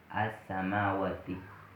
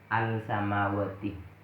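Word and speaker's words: السماوات: As-samawati. Ingat, bukan al-samawati. Tidak boleh jelas.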